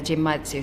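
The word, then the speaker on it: genmaicha: going to try the gym Matsu special it's pronounced with a hard G it's from Japan from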